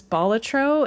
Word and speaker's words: Balatro: But uh I guess the way that the word bolatro is pronounced is bolatro and it it refers to like a jester, a joker if you will.